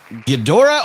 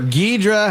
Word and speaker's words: Ghidorah: All right, Ghidorah or Ghidra, however you want to pronounce him, but as long as you pronounce him using this voice.